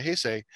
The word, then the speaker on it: Heisei: Then the next era called the Heisei.